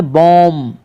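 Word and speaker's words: bomb: इसको पढ़ेंगे बॉम, इसको पढ़ेंगे कॉम। तो यहाँ पर तीनों में बी लेटर जो है अक्षर साइलेंट है।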